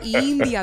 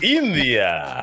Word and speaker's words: India: India. There you go. India. Yes. Siempre el primero. Okay. There you go. Yeah. Yeah. That's how you say it. You gotta say it, with the Spanish accent.